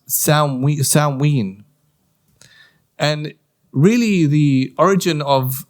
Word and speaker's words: Samhain: Halloween has its roots from what's called Samhain, pronounced Samhain.